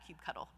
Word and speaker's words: kubectl: And it's pronounced like that, kubectl. So it just looks like this, kubectl, create -f, and then you're going to put